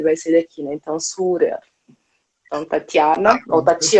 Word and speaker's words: Surer: O R fica R, Ah, né? Surer.